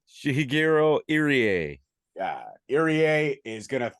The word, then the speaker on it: Shigehiro Irie: How do you pronounce this gentleman's name? Shigehiro Irie.